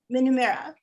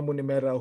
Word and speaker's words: Munemera: the star of the film shaina herself minomira welcome to the portland film fest q a